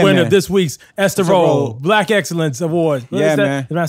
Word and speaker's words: Rolle: You're the winner of this week's Esther Rolle Black Excellence Award.